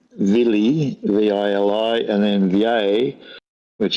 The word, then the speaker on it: Vili: There's Odin, then his brother's called Vili, V-I-L-I, and then Vjay, which is V and an E with a sort of an accent on the top.